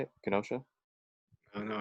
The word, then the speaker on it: Kenosha: by kenosha right that's how you say it kenosha oh no not from wisconsin well kenosha wisconsin